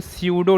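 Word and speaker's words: pseudo: इसको बोलते हैं स्यूडो नाइट्राल, स्यूडो नाइट्राल, स्यूडो नाइट्राल। स्यूडो में P साइलेंट होता है, वो हिंदी में लिखेंगे तो क्या लिखेंगे, स्यूडो, ठीक है।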